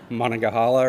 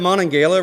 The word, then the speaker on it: Monongahela: Monongahela or something, is that right? Is that close? And I was like, is it the Monongahela River?